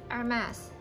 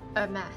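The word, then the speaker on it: Hermès: It's Hermes. Thank you for correcting. We don't really know how to pronounce because it's French word. We're not a French. It's Hermes.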